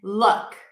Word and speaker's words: look: Two different words, tense oo, Luke, and then look.